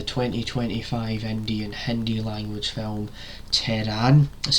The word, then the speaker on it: Tehran: In today's video I've got for you a review of the 2025 Indian Hindi language film Tehran. That's how you pronounce it.